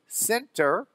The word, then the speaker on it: Sinterklaas: But Nicholas, the Dutch people would abbreviate, and he was Sinterklaas. That's the way it's kind of pronounced.